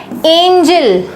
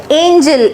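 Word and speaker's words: angel: का इधर-उधर हेरफेर है बट दोनों के प्रोनंसिएशन में जमीन आसमान का फर्क है इसको हम पढ़ते हैं एंजल एंजल एंजल मतलब परी है ना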